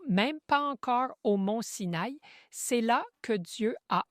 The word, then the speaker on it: Sin: Ensuite dans le désert de Sin, CS S I N prononcé Sin et puis ils étaient à Ridim où toutes ces activités ont eu lieu.